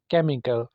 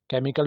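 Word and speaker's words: chemical: को कहा जाता है केमिकल केमिकल में भी देखें एच साइलेंट है इको आवाज का गूंजना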